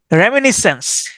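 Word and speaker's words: reminiscence: এ ইউ এল ওজি ওয়াই আরকিওলজি বা প্রত্নতত্ত্ব রেমিনিসেন্স Remi রেমিনিস চেঞচে রেমিনিস চেঞচে আমি এভাবে উচ্চারণ করতাম রেমিনিস চেঞচে আরই এম আই এন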